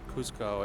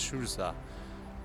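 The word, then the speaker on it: Ciusa: Souza I see I that's how she pronounced his name so it wasn't cause Kuzco it was true sir and sadly they were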